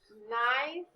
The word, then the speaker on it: knife: good let's look at these words we have knife we have me and not i'm sorry it